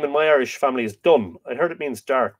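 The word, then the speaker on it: Donn: Dun, D-O-N-N, means brown, but it is pronounced sort of D-U-N-N-N. D-U-N-N-N-N-N. D-U-N-N. Dun.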